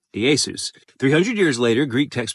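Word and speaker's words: Ἰησοῦς: And it's why a century later, as knowledge of Aramaic and Hebrew pronunciation vanished, Yeshua is now known as his name was pronounced in Greek, Iēsous.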